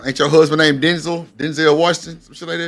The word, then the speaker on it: Denzel: Denzel Washington. Some like that. Denzel.